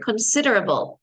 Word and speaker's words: considerable: same in Spanish considerable note the pronunciation considerable a bowl a bowl of all this a b l e is not able it's only able in table and able but not in this word considerable considerable considerable considerable